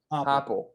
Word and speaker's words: Heupel: I can't pronounce his name. Heupel.